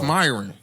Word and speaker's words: Myron: he said Miron. not true, though. It may be true for her. I guess. Like if she believe it, then hey, she's happy. How many times have we butchered her name, though? I don't know. It's Myron.